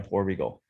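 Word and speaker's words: porbeagle: together you've got a poor regle um how do you spell that poor p o r okay and then beagle b e a g l e like like Snoopy like Snoop poy yeah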